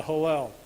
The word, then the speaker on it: Hallel: And so what happens at the end of the meal is they have the halal. It's like saying Louisville. Who knows how to say it, right? The Hallel.